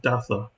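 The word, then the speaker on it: Daza: death of Maxim minus daa or is it datha in Spain that would be pronounced datha uh Constantine and linius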